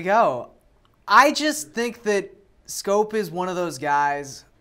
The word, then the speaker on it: Schoop: guy is it because people finally learn how to pronounce his name is scope scope Dutchman Jonathan Schoop yes